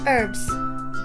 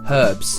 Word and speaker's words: herbs: Herbs. Herbs. We pronounce the H. Herbs.